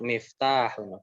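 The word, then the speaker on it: مِفْتَاحٌ: Nah, ya jangan keliru nih ya. Jangan mifnya pendek, taknya banyak. Miftahun.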